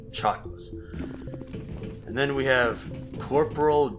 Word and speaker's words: Chakwas: It's pronounced Chakwas.